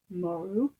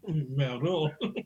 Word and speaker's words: Moreau: Moreau. I think you pronounced it. Moreau.